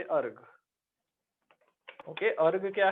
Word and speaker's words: erg: Centimetre बोल सकता हूँ, अर्ग, ERG, अर्ग, इसको प्रोनाउंस हम करेंगे अर्ग।